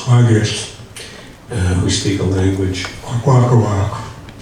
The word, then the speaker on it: Kwakiutl: Buckwheat on the west coast of British Columbia among the Kwakiutl people, which is spelled Kwakiutl, but pronounced Kwagist, who speak a language, Kwakwakawak, and it's a west coast language, it's not Salish.